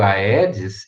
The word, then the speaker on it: Aedes: aqui aeds egipte tá o primeiro aí é do aedes ele é separado ele é um hiato né então você vai falar aedes agora o segundo a